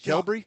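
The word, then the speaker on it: Qelbree: Is it Kelbury? Kelbury. Kelbury is is what it's called. I I see it written down but didn't know how to pronounce it.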